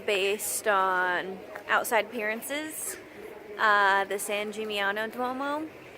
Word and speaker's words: San Gimignano: Wrapping up our trip to Tuscany, but we're stopping at one last place, San Gimignano, I believe is how you say it.